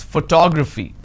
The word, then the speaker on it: photography: I pronounce this as photography how do I pronounce photography and how many syllables do I have here photography four syllables but in this case I stress on the second syllable that is what word